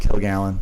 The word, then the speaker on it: Kilgallon: It's spelled exactly how it's pronounced, Kilgallon. The word kill and the gallon, except for one L up front.